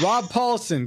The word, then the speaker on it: Rob Paulson: Rob Paulson, get on it.